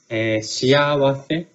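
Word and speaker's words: 幸せ: Because I remember I mispronounced it. Shiawase.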